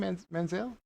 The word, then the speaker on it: Manziel: Manziel.